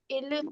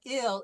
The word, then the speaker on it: il: So remember when we do IL, it's not ill, it's il. Okay. So il parle. Because the French I is short, the short version of the I is il.